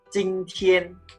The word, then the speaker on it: 今天: 今天. Okay, 天 means day. Today. So 今天. Okay, that's the first one. The second one is tomorrow. Okay, so the second one is 明天. Okay, 今天, 明天.